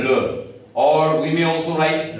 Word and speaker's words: le: We may write le, you know, in my previous video I taught you, last E is mute in French. So you'll read it as le.